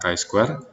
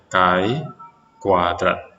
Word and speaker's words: chi-square: ya tabel qweb Hai jadi dengan tulisan seperti ini membacanya adalah kain Square dan dalam bahasa Indonesia ini bisa disebut sebagai Kai kuadrat ya karena Square arti